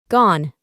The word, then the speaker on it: gone: En el pasado participio es gone. Se pronuncia sin la E del final y significa ido.